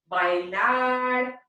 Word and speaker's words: bailaré: Yo bailaré. Make sure that when you're putting the accent mark on the appropriate ending, the E, that you're also emphasizing your voice at the end there.